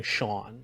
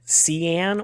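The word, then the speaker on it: Sean: it's very funny because i have the non-phonetic way of spelling shawn so s-e-a-n my name has been mispronounced maybe like three or four different ways and the best part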